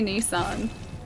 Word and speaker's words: Nissan: See, we say it like we say it Nissen. We don't say Nissan.